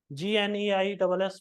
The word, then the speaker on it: gneiss: GNEISS वही है gneiss, ये स्पेलिंग याद कर लो अब।